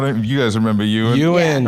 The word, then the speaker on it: Ewan: You guys remember Ewan? Right? Similar glasses? And it's Ewan and it's not Owen and it's not Eoin.